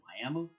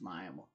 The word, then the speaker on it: Miami: We have a town that spelled Miami, but we pronounce it Miami. Like it has an A at the end and it's like that's an I and it's it's Miami.